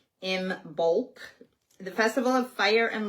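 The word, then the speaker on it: Imbolc: Um, oh, yeah, because she was saying, okay, so I imbulk, pronounced m i m bulk, b o l k, but it's spelled I M B O L C. Ibulk.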